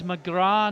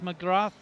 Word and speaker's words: McGrath: okay now Gina McGrath sometimes it's McGraw not McGrath it can be pronounced either way a lot of the Irish say McGraw actually so I'm not sure so I'll go with the phonetic equivalent of what's written down let's hope she doesn't